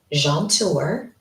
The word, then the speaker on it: Jaunteur: It is pronounced jeanour.